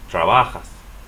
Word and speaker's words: trabajas: Ends with an S, next to the last syllable. Trabajas.